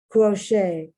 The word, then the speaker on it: crochet: you once again french crochet once again french the tea is not pronounced gourmet once again french